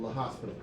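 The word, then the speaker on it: L'Hôpital: like the hospital and there's probably a bunch of ways to pronounce it for all I know I just called l'hopital I definitely have heard the hospital it bothers me only because it sounds like hospital and it just doesn't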